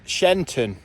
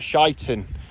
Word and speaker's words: Sheinton: read and and that definitely says shine shenton not shyon but yeah that's that's the pronunciation of the locals it's we're back in